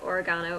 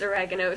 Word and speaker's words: oregano: them well we car we call it oregano over here but in the u.s it's oregano so every time i